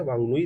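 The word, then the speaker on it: Whanganui: River is दी वांगुई, Vanga गुई river है, वांगनुई river, sorry for wrong pronunciation, वांगनुई river है।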